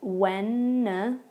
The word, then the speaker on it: Wednesday: So, for example, at the beginning, when you see that D sound, it is not pronounced. We just say Wednesday.